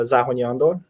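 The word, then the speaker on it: Zahonyi Andor: my good friend uh andor zahony uh zahonyandor actually in the hungarian pronunciation and uh he's a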